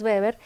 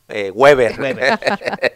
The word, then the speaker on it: Weber: Max Weber, porque así se pronuncia, ¿no? Otros nacos dijéramos Max Weber.